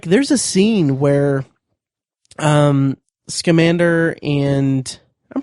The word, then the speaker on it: Scamander: creatures it's like there's a scene where um scamander and I'm pronouncing that right right yes schander and um